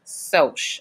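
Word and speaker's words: Socs: soldiers are short for social so it's not pronounced Sauk even though it's spelled SOC s is pronounced soch which is short for a social okay okay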